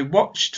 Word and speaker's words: watched: And this time we add a t sound at the end. Watch. The sound at the end is ch, no voice. Ch, just a sound from the mouth. I watched football yesterday.